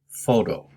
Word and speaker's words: photo: Pronunciation is on the first syllable, photo.